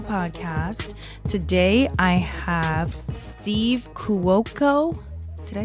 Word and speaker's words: Cuoco: Today I have Steve Cuoco.